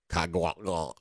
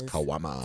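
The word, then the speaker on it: caguama: So it it looks like kagua but it's like but it's kwama.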